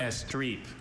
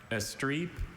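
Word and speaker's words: estrepe: Estre. Estre. May I please at the definition? To wreak needless destruction or waste upon. Are there any alternate pronunciations? Yes, I have. Estre or estre?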